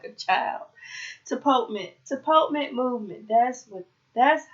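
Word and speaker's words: tapotement: Let's see how to pronounce this. Tapament.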